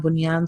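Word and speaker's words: بنيان: We would simply pronounce the noon as normal. Dunya, bunyan, sinwan, qinwan. Why? Because idgham can only happen between 2 words, and this is within a word.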